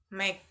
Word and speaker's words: make: Our word make, the E at the end is silent, so it does not appear in the transcription.